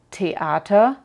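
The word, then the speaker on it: Theater: t en alemán y si la ves escrito con una H detrás el sonido no cambia es igual como en teat o matematic seguimos con ha ha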